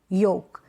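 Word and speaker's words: yolk: ये जो स्पेलिंग्स है, ये जो एग्जाम्पल्स है, यहाँ पर एल साइलेंट है, ठीक है, क्योंकि ए ओ यू वोवल्स के बाद में क्या आ रहा है, एल आ रहा है, इसलिए।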